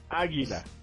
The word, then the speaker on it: águila: Águila. Águila. Interesantemente, el águila. It's always masculine. El águila? Yes. Oh, crap. Here we go. El águila. You know why? Because No. the stress is on the first A.